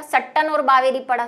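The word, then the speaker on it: Sutton: ठीक है, तो वो ज्यादा डिस्कशन नहीं, क्योंकि इसको वैसे सट्टन बोलेंगे।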